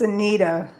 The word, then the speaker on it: Seneida: It's It's pronounced Senita, so I appreciate that.